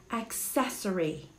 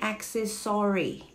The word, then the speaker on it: accessory: you pronounce this word it's actually accessory accessory accessory hindi access story all right sorry it's not accessory a person is guilty